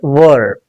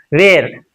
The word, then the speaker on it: were: Was were past forms. Some people would pronounce this as where.